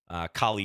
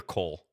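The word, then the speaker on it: Colle: Is it Kali or Cole? I never know. I never know quite what pronunciation is correct. I feel like most people say Kali, but I have heard people say Cole as well.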